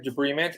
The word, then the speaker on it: debridement: to come out so uh uh arthroscopic it's pronounced destructive debridement and debris meaning like debris trash so to